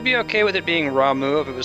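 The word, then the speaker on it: Ramuh: Apparently Rama is Ramu because it's Japanese and it's okay to be wrong.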